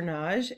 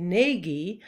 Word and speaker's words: Nagy: and often people say nagi i pronounce it the hungarian way which is with a single syllable naj now you might see